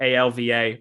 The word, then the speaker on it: Ailbhe: Ailbhe spelled Ailva, but not in reality.